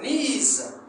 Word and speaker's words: knees: On peut aussi dire she hurts her knees. Elle s'est blessée au genou. Knees s'écrit avec K-N-I-I-S. On ne dit pas knees, mais on dit knees.